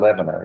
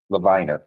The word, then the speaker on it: Levina: Well, it's not Lebanon, it's Levina.